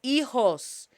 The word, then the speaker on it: hijos: For those that have children, estoy agradecido por mis hijos. H is shh. La H es silenciosa. Shh. H is silent.